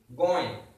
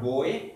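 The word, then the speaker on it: गोंय: You have nasal pronunciations here. Okay, going. It is not goy.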